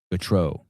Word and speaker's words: Gautereaux: Cory Gautereaux, like the goat.